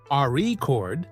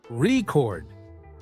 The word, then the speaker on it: record: For example, in the word record, if you stress the first syllable, record, it's a noun, but if you stress the second syllable, record, it's a verb practicing stress, and intonation makes you sound more natural.